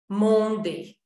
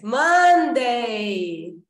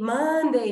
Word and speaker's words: Monday: Do tipo, os meus alunos dizendo Monday. Eu faço assim, velho. Monday! Ok? Monday, não é Monday. Não fecha, abre, sorri.